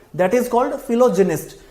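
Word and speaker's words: philogynist: Word बना फिलोजिनिस्ट, इसका pronunciation थोड़ा ध्यान से करेंगे, फिलोगाइनिस्ट नहीं होता, फिलोजिनिस्ट होता है।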